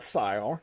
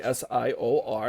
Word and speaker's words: SIOR: uh so we uh so SI is not Sor which a lot of people will pronounce it as Sor it's actually s IO r as you said um and it's great to